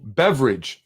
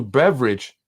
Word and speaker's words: Beveridge: The redistricting that was recently given to a gentleman by the name of Andrew Beveridge, not spelled like beverage, but sounds like beverage.